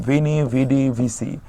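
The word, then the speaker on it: Veni, vidi, vici: অফ car Shakespeare writing এলাম দেখলাম জয় করলাম ভিনি ভিডি ভি সি মনে রাখবেন ডানদিক থেকে আগে সি তারপর ডি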